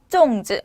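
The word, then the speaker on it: 粽子: 발음은 쫑즈.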